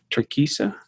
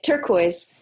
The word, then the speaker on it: turquoise: There's, I don't know how you say it, turquesa? Turquesa, red smoke, and then number, you say it for me. It's turquoise. Turquoise.